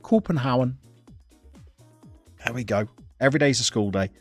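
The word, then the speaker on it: København: Copenhagen corporate corporate Hound that's what the Danes call Copenhagen when we see it written in Danish we try and pronounce it cobenhaven I think they pronounce it copenhauen there we go every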